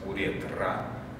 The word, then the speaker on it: уретра: Есть сходное слово, оно по-другому пишется и по-другому произносится. Уретра – мочеспускательный канал, который нельзя путать.